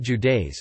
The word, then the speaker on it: județe: Romania is divided into 41 counties, județe, pronounced Judeis, and the municipality of Bucharest.